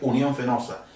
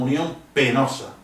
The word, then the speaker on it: Unión Fenosa: en las zonas Rurales Unión fenosa empresa española ellos apenas pronuncian la p en la F y le llaman Unión penosa con acierto porque es